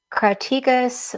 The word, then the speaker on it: Crataegus: And it was also called Crataegus, which means flowering thorn. That's how you pronounce that name.